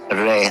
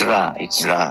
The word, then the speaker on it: Ra: I mean, the same people who spell it Re, R-E, then go and write the name of the pharaoh Ramses, which means issue, emanating from Ra.